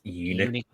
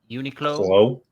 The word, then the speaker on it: Uniqlo: Uniqlo. Uniqlo. Uniqlo. Oh, that makes a lot of sense now. Like unique clothes. Like unique clothing. I get it now. Yeah, the only thing that stinks about these Uniqlo things, they're always pretty expensive.